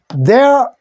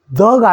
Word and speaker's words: the: 한 개의 사과는 on 써야 되고, 요거 읽는 거는 the가 아니고 the라고 읽는 것.